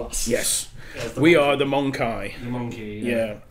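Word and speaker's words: Mon-keigh: And a similar word from the Eldar is the Monkey, spelled MON_KEIGH, but pronounced very similar to monkey, because that's how they refer to us. Yes. We are the Monkai.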